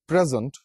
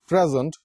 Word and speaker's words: present: One is pre, P-R-E, and S-E-N-T. اگر آپ جو اسٹریس ہے وہ پہلے سیلیبل پہ رکھیں گے present, you would pronounce it as present, تو اس کے 2 مطلب نکلتے ہیں.